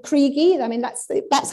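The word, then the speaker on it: Kriegie: k-r-i-e-g-um why or just just with the e because that's how you pronounce it in german and kriegi was just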